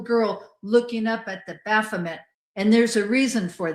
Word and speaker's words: Baal: That's what Baal worship was all about was taking the babies, the children, and throwing them into live fire to ba. Some people pronounce it as ball.